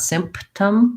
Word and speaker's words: symptom: it as sim no i do have to close for the p so i just don't release it symptom so try sim sim